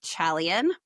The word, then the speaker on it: Chalian: Arpitha Chalian. Rhymes with stallion.